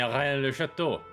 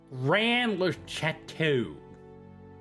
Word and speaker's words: Rennes-le-Château: I'm just saying Rennes-le-Château. That's the way it's supposed to be pronounced. In French. Rennes-le-Château.